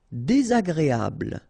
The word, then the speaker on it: désagréable: Désagréable. Final E not pronounced. Bl at the end.